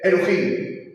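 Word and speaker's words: אֱלֹהִים: Luhim, se pronuncia Elohim. Elohim Kadoshim U.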